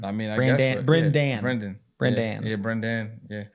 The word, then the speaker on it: Brendan: n d a n okay okay I mean Brenan Brenan Brenan yeah Brenan yeah real name's Dan